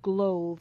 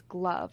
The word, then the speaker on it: glove: It's not glove, it's glove. It rhymes with love.